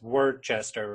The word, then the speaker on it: Worcester: town called South borough Worcester which is sounds like for people now from Boston's word Chester right exactly well that's